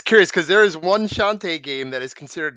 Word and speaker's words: Shantae: I keep forgetting how to pronounce the name. Shanty. Shantae. Shantae. I think it was Shantae, Shantae.